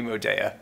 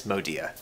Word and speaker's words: Modea: smart i don't know it's like a european pronunciation if we were based in paris right it would be like we'd be moda but it is modia the